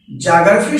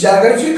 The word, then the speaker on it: geography: के अंतर्गत, ध्यान दीजिएगा, ज्योग्राफी शब्द GEOGRAPHY, ज्योग्राफी, इसकी हिंदी होती है भूगोल। फ्रेंड्स, ज्योग्राफी का शुद्ध उच्चारण होता है जियोग्राफी, जियोग्राफी, जिसकी हिंदी भूगोल।